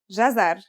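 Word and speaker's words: جزر: It's pronounced jazar and means carrot.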